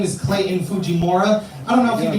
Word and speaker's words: Fujimura: I myself am pronouncing my own last name incorrectly. Whatever. It's It's actually pronounced far more Japanese than that. But uh I just say Fujimora cuz anytime my dad hears me say anything remotely Japanese, he's like,